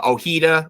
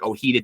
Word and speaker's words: Ojeda: pronounce his last name it looks like oh heeda to me that's how I would pronounce it thinking back to New York Met great and uh Keith Hernandez his old uh teammate Bob Ojeda uh Eddie goes by